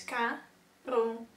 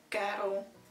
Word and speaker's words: Karel Appel: So it's Karel. Karel. Karel. Appel.